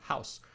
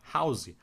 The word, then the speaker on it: house: A palavra house para casa, por exemplo, é pronunciado house, mas no final da palavra tem um E e esse E é mudo. Mas muitos brasileiros falam house, pronunciando esse vogal no